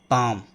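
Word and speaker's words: palm: ठीक है, उसके बाद है पाम, एल यहाँ पे साइलेंट है।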